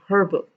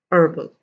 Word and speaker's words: herbal: listen to me again honor minus the h excuse me honor honest air herbal so these are the